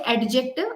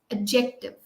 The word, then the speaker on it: adjective: silent you cannot say adjective it's adjective got it Amisha the D is silent I hope it's clear